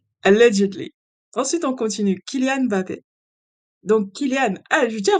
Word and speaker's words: Mbappé: Kylian ne s'appelle pas Mbappé, il s'appelle pas Mbappé, il s'appelle Mbappé. Il faut prononcer le Mba. C'est Mbappé.